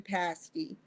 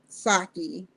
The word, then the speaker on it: Psaki: But I read what she said to Jen Psaki or Psaki. I'll just say Psaki, the P is silent.